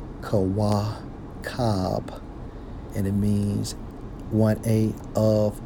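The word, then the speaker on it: כוכב: When we focus on that term star, in the Hebrew, Strong's H3556, pronounced as Kawakab, and it means 1A of Messiah.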